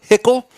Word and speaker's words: Hickle: All of you out there in in In Timeland, we've got Ava Hickle. Uh thank you, Ava, for for joining and and being rhymes with Pickle.